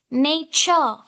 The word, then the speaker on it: nature: However, here H is not given beside T, but we pronounce it as cha sound.